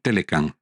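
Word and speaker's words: T-MEC: del Norte y bueno se pronuncia telec an telecam contra ambos países Trump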